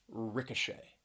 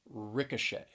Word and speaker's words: ricochet: finally there's the word ricochet ricochet three syllables stress is on that third syllable ricochet and i know we're